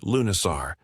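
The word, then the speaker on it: Lughnasadh: Lugnasad pronounced Lunisar, the Celtic festival honoring Lug, the god of light craftsmanship and war.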